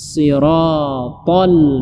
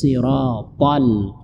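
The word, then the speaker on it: الصِّرَاطَ: terjadi itu disorot karena itu huruf kode bukan huruf Sin Kebanyakan orang membaca ihdinas sirotol itu keliru yang benarnya ihdinas sirotol itu mesti ditinggalkan karena dia masuk dalam salah satu huruf Istiana yang diangkat apa yang diangkat lidah kita ihdinas sirotol Shiro Shiro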